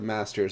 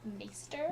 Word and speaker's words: maester: No, the Citadel is where the masters all learn in Old Town. It's pronounced maester. Maesters. I'm Yeah, sorry. not the master.